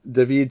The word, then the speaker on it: David: with five goals and daveed to share or david to share however you want to pronounce his first name depending on with you and anglicize it or not has only six goals